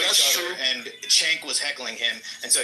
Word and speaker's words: Cenk: It's spelled C-E-N-K. Right, but in Turkish it's pronounced Cenk.